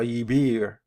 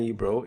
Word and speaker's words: Yibir: Yibir, the Yibir or Yibro, some find Yibro is a mispronunciation.